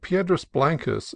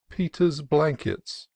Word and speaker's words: Piedras Blancas: pronunciation at San Simeon, where I heard Piedras Blancas seriously referred to as Peter's Blankets, and Arroyo Cruz, the name of a neighboring canon, as Arroyal Cruz.